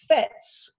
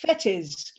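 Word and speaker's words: Fettes: Very quickly, Tanya, you mentioned FETs with Arthur Findlay. Is that the school he went to? Yes, absolutely. Yes, Yeah, it's actually pronounced Fetis, and yes, it's in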